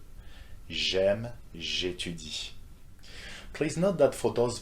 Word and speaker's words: j'étudie: Same will go for j'aime, j'étudie, for these two verbs that start with vowels, okay, A and E. J'aime, j'étudie.